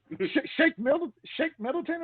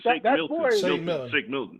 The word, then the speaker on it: Shake Milton: Shake Middleton, I believe his name is. Shake Milton.